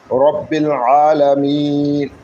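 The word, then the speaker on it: ربّ العالمين: আল্লাহ শুকরিয়া আদায় করলাম রব্বিল আলামিন রব রব রব রব বা গিয়ে লামকে ধরবে বালামদের বিল রববিল রব্বিল রব্বিল আলামিন গলার মাঝখান থেকে উচ্চারণ করতে হবে দুই নম্বর মাখরা আলামিনা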